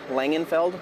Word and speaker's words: Langenfeld: I suppose so we're against your name and spell it for us please langenfeld l-a-n-g-e-n-f-e-l-d Egree badge says Chief Deputy I'm the